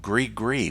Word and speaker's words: gris-gris: And my exposure, my first experience with it, was helping the priestess prepare what's called gris-gris bags. Now, if you've never heard of gris-gris, it's spelled Gris, and then just spell that again, gris-gris.